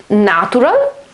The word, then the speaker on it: natural: So pay attention that the A is pronounced in a completely different way. Natural. This is a transcription, so again, the accent on the first syllable. But this letter here, this vowel here is written like this. So you have an A together with an E sound, okay? So it's na, na, na.